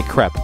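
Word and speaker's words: crêpe: crepe though I know you're supposed to say CREP but that sounds weird to me I mean like how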